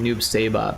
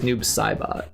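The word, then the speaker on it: Noob Saibot: Um, but yeah, we all we always pronounce it Noob Sabbot, but I think it's Noob Saabot.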